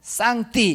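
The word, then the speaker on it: 上帝: 캉 상제 라고 번역했습니다 중국 발음으로 는 쌍 t 이렇게 번역하고 있는 거지요 그러니까 서양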